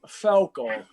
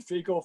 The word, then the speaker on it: Felkel: It's been mutilated through the years, so I'll go by any of the above, but it's Felkel. Felkel. That's it. Okay. We were just wondering, we didn't want to butcher it too bad. Well, you know what? It's been butchered. I've been Fecal, Farkle, Felkel, Felker, Felkel, Feckle. So, it's any of the above would be fine.